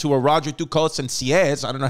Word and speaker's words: Sieyès: Then the second coup was Napoleon didn't tell his other two boys about this, who were Roger Ducos and Sieyès. I don't know how they'll spell that, how to pronounce that, but it's spelled S-I-E-Y-E-S.